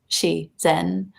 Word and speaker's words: Shizen: And I'm just so, once you live in Japan, you just start reading everything phonetically. Like, of course, you'd pronounce it Shizen.